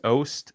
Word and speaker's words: Oast: it just because like your last name is ost is it am i pronouncing that right yeah it's not that's exactly